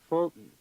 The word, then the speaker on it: Fulton: The unstressed vowel after the t and d is a syllabic N.